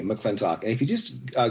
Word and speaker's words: McLintock: capital l i n t o c k mclean talk and if you just uh google it's really